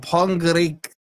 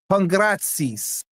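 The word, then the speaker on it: Pongračić: Then you got Pongrik. How do you say that? Pongratsis.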